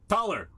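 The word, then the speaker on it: Thaler: Taller. It is pronounced taller. It is German predictably and it is the it is indeed the source of the word dollar.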